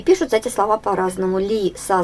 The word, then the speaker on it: лиса: Ударение падает на А.